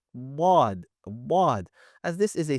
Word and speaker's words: ض: As you learned, we want to ensure a few key points regarding letter wad. Firstly, we want to ensure that we're not pronouncing it from the tip of our tongue, if it is very a common misconception.